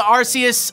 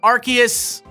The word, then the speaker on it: Arceus: let's talk about the Arceus Arceus debate first apparently they changed it the pronunciation changed because they don't want to offend British people who say us to mean ass osseous Arceus Arceus RK Asst